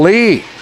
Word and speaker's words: Lea: So we've got Kiana Lee and Kiera Lee, and once again spelled L-E-A, but they were quick to tell me it's pronounced Lee.